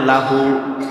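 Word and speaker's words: لَهُ: লাম আর হা আরবিতে উচ্চারণ হয় লাহু।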